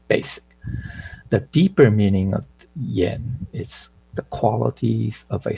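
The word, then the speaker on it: 儼: Okay, so this word is pronounced yen.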